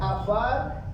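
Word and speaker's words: עפר: palabra polvo mis hermanos en el hebreo significa o se pronuncia afar que quiere decir lodo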